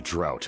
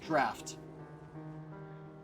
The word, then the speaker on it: draught: That's why we developed the Drought of Lucidity. Not actually pronounced drought. It's spelled that way, but it's pronounced draft. I would always pronounce that word draught until I learned better.